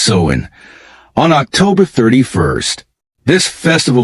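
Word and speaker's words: Samhain: northern France they celebrated a festival called Sinn pronounced seen on October 31st this festival marked the end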